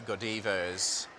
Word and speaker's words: Godiva: good divert chocolate Godiva good Eva's kind of how they pronounce it here this is like Japanese